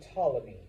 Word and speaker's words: Ptolemy: over by his general Ptolemy. And yes, like most Greek words and names, the P is silent.